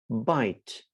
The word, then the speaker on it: bite: no vowel after that when i add the letter e then the sound of i becomes i which is the sound